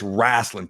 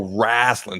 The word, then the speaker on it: wrestling: in DC Chuck Carol's like no Adam it's rasling Pro rasling so I pronounced it that that way ever since all